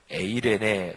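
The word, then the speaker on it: εἰρήνη: 전하신 소식은 평화 히브리어로 샤일로 신약성경 헬라어 르는 에이레네 라고 발음하는 데 평화 평안 평 가미했습니다 부활하신 주님이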